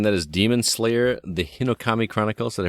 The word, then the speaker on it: Hinokami: makes sense again that is demon slayer the hinokami chronicles that i pronounced that correctly you did look at that